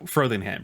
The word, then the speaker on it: Frothingham: what you meant FR it's spelled fro as in like an afro thing ham so frothingham oh okay sorry I